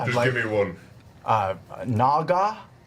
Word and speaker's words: naga: Uh Naga. I think that's how you say it.